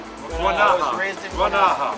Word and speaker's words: Guanaja: Guanaja. Guanaja.